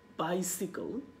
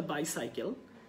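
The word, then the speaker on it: bicycle: অ্যান্ড একই সাথে বাইসিকল, আপনি একটু খেয়াল করে দেখেন, বাইসিকল, this is নট দ্য বাইসাইকেল, অ্যান্ড বাইসিকল।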